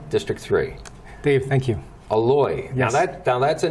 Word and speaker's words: Eloy: take them serious uh but we would say eloi but it's pronounced yes remember that folks aloy francisco matcha on the ballot okay alloy you